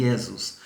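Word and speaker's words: Iesus: escreve isso mas escreve mas fala e ésmos pronuncia-se como se fosse um z aqui yesus o latim deu origem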